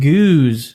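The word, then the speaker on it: gueuze: A geuze, pronounced geuze, of course, Geuze.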